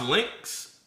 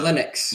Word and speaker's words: Linux: So, is it is it is it pronounced Lynx? Uh Linux.